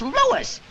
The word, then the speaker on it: Louis: Me name is Lois, not Lois. Gee whiz, everybody interpolates me name wrong. It's Louis. L-O-U-I-S.